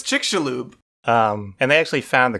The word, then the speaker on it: Chicxulub: are saying either yeah it's not Chicxulub it's chick Shalhoub and they actually found